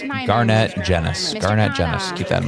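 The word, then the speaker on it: Garnett Genuis: I've always I've been mispronouncing his last name forever. Nice to know. It's Garnett Jennis.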